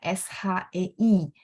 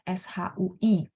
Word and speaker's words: 谁: Kalau teman-teman ketemu orang bacanya SHEI, boleh. Orang bacanya SHUI, itu juga boleh ya. Dua-duanya boleh ya.